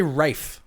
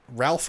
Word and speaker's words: Ralph: People say Rafe. Yeah, I hear Rafe. And I go Ralph because it's spelt like Ralph.